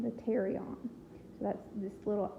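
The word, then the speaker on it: pterion: here is known as the Terry on and it's spelled with a pee like pterodactyl p te RI o n the Terry on so that's this little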